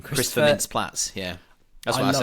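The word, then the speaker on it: Mintz-Plasse: Christopher Mintz-Platz.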